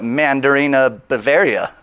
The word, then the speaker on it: Mandarina Bavaria: I could call it Mandarina Bavaria. You said it. I did it, guys. I've been practicing it all day. It's 8 syllables. It's a hard one.